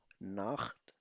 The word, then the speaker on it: Nacht: तो इस सिचुएशन में इसको हमेशा खे से प्रोनाउंस किया जाएगा. zum Beispiel Buch. Buch में अगर आप देखो so Buch, okay, oder Nacht.